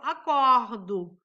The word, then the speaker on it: acordo: Eu acordo. Coloco o O no final, né? Mas pronuncio como U.